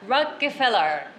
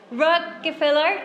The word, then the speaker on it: Rockefeller: Rockefeller start R and finish with R. In the middle, we have to pronunciate two L's.So the combination of R and L, so I had to practice a lot.